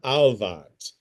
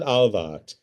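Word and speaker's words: Ahlwardt: of Germany, a deranged German teacher named Hammon Alvad, and this is how one spells his name, Ahl W Dt. A deranged German teacher named Hammon Alvat fantasized about a so-called Jewish world conspiracy and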